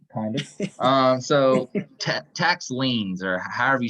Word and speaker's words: liens: that so to kind of um so tax liens or however you say that word l-i-e-n-s that's